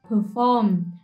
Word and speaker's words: perform: có là trình diễn perform Đây là một động từ vì vậy nó sẽ có trọng âm là trọ âm hai tiếp theo buổi hòa